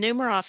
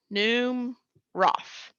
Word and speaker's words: Numeroff: Laura is spelled just like most people spell Laura. And then Numeroff is N-U-M, M-R-O, and double F on the end. Numeroff.